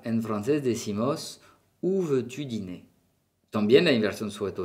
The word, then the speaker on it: dîner: Dîner, ¿qué es? La comida de la noche, dîner. La R no suena.